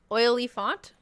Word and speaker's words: Oliphant: been very confused then oily font oily font that's how you say it oily font uh like elephant except for an o so oliven oliphant yeah